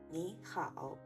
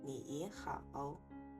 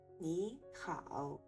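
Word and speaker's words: 你好: 比如你好、美好、理想、勇敢，请不要读成你好、美好、理想、勇敢。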